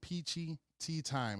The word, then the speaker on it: Peachy Tyme: All you got to do is type in PEACHY TYME, and that's time spelled with a Y, TYME.